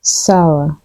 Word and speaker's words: sour: word right here is mostly mispronounced as s the correct way to say it is sour sour here's an example